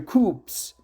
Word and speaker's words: coup: conflict, or where military coups are common. Let me stop here and look for the exact pronunciation for this. Military coups, not coups. I think military coups. P is silent.